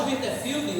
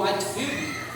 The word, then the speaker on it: Whitefield: prosperou depois e Jorge wilsterfield ou whitefield depende como você quer pronunciar voltou e disse assim